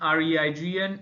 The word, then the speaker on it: reign: Then next is rain, RAIN, REIGN and REIN. So pronunciation is rain, and meanings are different.